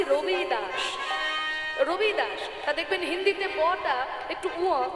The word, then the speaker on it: রবিদাস: এই ভজনটি যিনি রচনা করেছেন তার নাম হচ্ছে রুদাস রুদাস আসলে রুদাস তার নাম নয় বাঙালিরা বলে রদাস তার নাম হচ্ছে কি রবিদাস রবিদাস দেখবেন হিন্দিতে একটু উচ্চারণ হয় রবিদাস রবিদাস